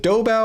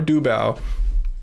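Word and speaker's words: Doubao: Let me know if I'm pronouncing it right. Is it Dobba or Duba? I think it's Dobba.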